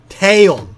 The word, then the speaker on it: Taeyeon: Şimdi buradaki grup üyelerinden 3 tanesini söylediler de bunların telaffuzu nasıl? Bir tanesi Tiffany'miş. Doğru mu? Ha Tiffany. Tiffany. Öbürü Taeyeon. Taeyeon.